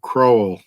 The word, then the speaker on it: Kroll: Keith says it's O like O, so Kroll.